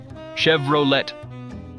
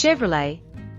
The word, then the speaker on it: Chevrolet: Chevrolet. Close, but the T is silent. It's Chevrolet. Wait, isn't Chevrolet an American brand? It is, but the name comes from Louis Chevrolet, who was Swiss-born with French roots.